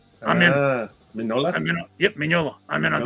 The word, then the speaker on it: Mignola: All right, this is Mignola's viral pencil sketches, Radio Spaceman, steampunk space adventure. It sounds pretty cool. It's pronounced Mignola. Mignola. The G is silent. I'm in. Mignola?